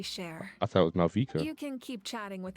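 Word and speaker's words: Mavuika: This time, just as Mawika.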